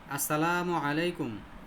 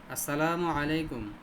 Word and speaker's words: আসসালামু আলাইকুম: দে hello কি হয়েছে উচ্চারণ কি সালামের উচ্চারণ কি? ওয়ালাইকুম সালাম। আরে ব্যাটা আমি তোরে সালাম দিছি নাকি? আমি জেগেছি সালামের উচ্চারণ কি? আসসালামু আলাইকুম। এই বলেন সবাই। আসসালামু আলাইকুম। মুখে কি একটু এক আলিফ দুই আলিফ টান পড়ে না? আসসালাতে টান আছে তো?